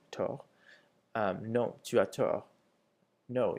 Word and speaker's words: tort: Avoir tort, without pronouncing the second T, tort.